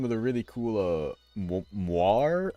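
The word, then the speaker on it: moiré: the really cool uh moir effects I believe is how it's pronounced m o i r e it's French I think it's named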